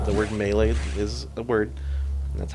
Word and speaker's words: melee: Super Smash Brothers and pronounce the second game melee drives me up the wall. It's melee, and they even say it in the game. That's a real word. It's not one they made up.